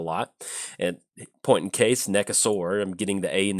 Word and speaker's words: Nekusar: So, and also, I know the correct pronunciation is Nekusar, but I'm dyslexic, or at least I'm pretty sure I'm dyslexic.